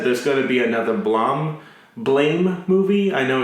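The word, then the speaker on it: BLAME!: they already said there's going to be another Blame movie. I know it's pronounced Blom for some reason.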